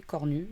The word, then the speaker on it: Cornu: Le troisième hémisphère, tu tapes Cornu, et Cornu, comme ça se prononce, comme les cornes.